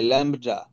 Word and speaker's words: lambda: ল্যামডা, LAMBDA, ল্যামডা। বি এর উচ্চারণ নাই, বলবেন ল্যামডা। ল্যাংডা বললেন না আবার কিন্তু কেউ, এটা দিস ইজ ল্যামডা।